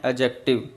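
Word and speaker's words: adjective: वैसे ये एडजेक्टिव नहीं होता, ये होता है एडजेक्टिव, यहाँ डी साइलेंट होता है, इसे हम बोलते हैं एडजेक्टिव।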